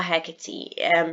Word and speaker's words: Hecate: which is meeting or hecate you can pronounce it either way i'll be pronouncing it and her kid if you remember from